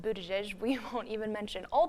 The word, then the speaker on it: Buttigieg: And Mayor Pete's last name is pronounced Buttigieg.